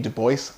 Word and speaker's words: Du Bois: a note on pronunciation i use du bois rather than the french dubois because du bois left us instructions on how to pronounce his last name du bois with that out of